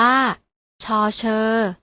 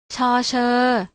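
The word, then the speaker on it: ฌ เฌอ: ที่ 2 อ่าน ว่า ช เฌอ อ่าน ออก เสียง ตาม อีก ครั้ง นะ คะ ช ช้าง ช เฌอ ฟัง ออก แล้ว นะ คะ ว่า ออก เสียง พยาง หน้า ช เหมือน กัน ต่อ ไป คือ พยัญชนะ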